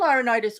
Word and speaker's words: Laurinaitis: Laurinaitis. Laurinaitis, okay. Yeah. Which he was big in talent. He's big, and the thing about bringing John Laurinaitis into it, the irony of it is that John Laurinaitis always, and correct me if I'm wrong, Jeff,